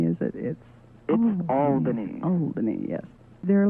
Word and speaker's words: Albany: It's not Albany, is it? It's Albany.